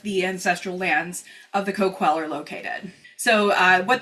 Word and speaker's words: Coquille: Um, you may be familiar with the town and the river of Cookil, but the tribe pronounces it Kquwell.